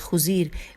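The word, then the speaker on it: خضیر: قبیلہ اوس کے سردار ہجے کرتے ہیں، خے پہ پیش ہے، پھر زواد ہے، اور پھر یہ خزیر بن اسید الف پہ پیش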